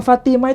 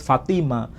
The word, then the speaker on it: Fatimah: Nabi Ismail namanya Fatimah hanya beda cara pelafalan di sini tak disebut Fatimah tapiti mau disebut Fatima mau disebut Fatimah itu bukan Sesuatu yang mustahil tapi Intinya